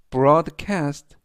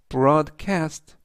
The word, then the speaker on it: broadcast: 뜻이 되겠습니다 이번 단어는 broadcast broadcast broadcast라고 발음하시면 되겠고요 이때 강세는 앞부분에 있는의 강세가 있습니다 그래서 broadcast라고 발음하시면 좋겠고요 품사는 동사 뜻은 방송하다